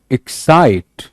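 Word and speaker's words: excite: बोलने में एक्साइट, एक्साइट, एक पे कम जोर है, साइट, एक्साइट।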